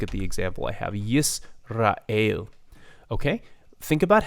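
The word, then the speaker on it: ישראל: Yisrael, Israel, Israel. Okay, so the consonant break comes in English in the same place that it comes in Hebrew, yis, right?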